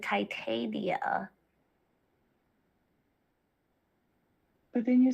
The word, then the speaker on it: Titania: you right after i i talked about the tatiana no i said titania but then you said i hate you what